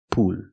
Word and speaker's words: pool: It's pronounced pool. So what's the difference? I'm using the long oo sound like food and moon. Poo. Then I'm linking to the dark L, where I tense my tongue.